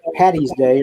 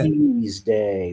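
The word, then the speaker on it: Paddy's Day: Patty's Day with a D. Okay? Because his name in Gaelic is Patrick. If you call it Patty's Day or St.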